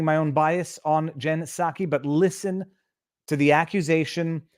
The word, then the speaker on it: Psaki: I now have properly programmed the proper pronunciation of her name. Jen Psaki.